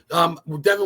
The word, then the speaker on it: Devon: Devon, right? Is that how you say it? Yeah, that's correct. Okay. Devon, what got you started into like horror movies and scary and paranormal and just film itself?